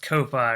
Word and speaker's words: Ko-fi: I'm just going to call it coffee, even if it's pronounced Ko-Fi or whatever.